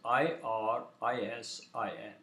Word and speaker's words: irisin: this article is arson the muscle fat communicator is spelled as i r isin iris iris was the messenger in greek mythology